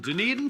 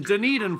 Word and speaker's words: Dunedin: Now, here's one from our friends all the way from Dunedin, Florida. Pronounced done eating, but not done drinking.